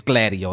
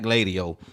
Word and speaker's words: Gladio: I know how to say it now, y'all. It's Gladio, not Gladio.